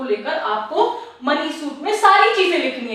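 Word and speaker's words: mesne: the plaintiff suits for द मींस profit don't pronounce as मसने profit don't be so stupid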